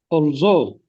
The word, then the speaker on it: although: Is it although or although? Although although the stress lies on the second syllable is it repair or repair repair the stress lies on the second syllable.